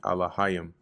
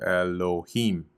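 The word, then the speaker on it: אלהים: The Ya and the Ma are joined at the end, making it Alahayim. So even here, even though they have the pronunciation off, you see they have Elohim, which is really Alahayim.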